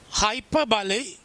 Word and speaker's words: hyperbole: Hyperbole means Hyperbole. Hyperbole. That's all it pronounce, okay?